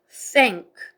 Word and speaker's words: thank: 번데기 발음 아랫니민 사이 혀를 내밀고 라고 하지요. 바람 나가는 소리 그 다음에 응크 해가지고 앵크 합쳐서 thank 이렇게 되고요. 그 다음에 이유 빨리 읽으면서 길게 읽어서 you 이렇게 해가지고 연결해서 thank you 이렇게 되고요.